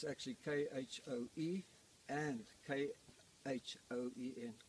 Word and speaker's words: Khoen: It's actually K-H-O-E and K-H-O-E-N, Khoen, Khoen, which incorrectly translated in the particularly the